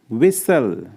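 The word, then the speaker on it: whistle: करना अनलेस सीटी बजाना विसल इसमें टी साइलेंट होता विसल उदास होना या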